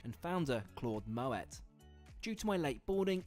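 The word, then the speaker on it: Moët: After stowing my bag, I'm offered a refreshing glass of Moet. Yes, before you say, it's pronounced with a hard T thanks to its Dutch heritage and founder Claude Moet.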